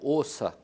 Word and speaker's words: Åsa: Se fala em sueco, Åsa. Åsa, mas se escreve asa, porque tem uma bolinha em cima do A.